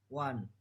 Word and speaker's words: one: Contoh kata one, pengucapan one. Penjelasannya O dalam kata ini diucapkan seperti W.